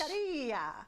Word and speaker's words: Taqueria: Taqueria. Taqueria. Is that how you say it? Yes. Taqueria.